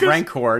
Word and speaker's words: Rancor: a little bit okay it's rancor not ranked okay thank you rancor